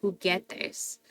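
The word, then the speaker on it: juguetes: going to cut it so that's why the U is in there but not pronounced it's there to protect that hard G sound who get this but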